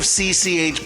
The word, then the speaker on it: CCH: you've never heard of CCH Pounder that's how her name is pronounced spelled out not spoken phonetically so it's not pounder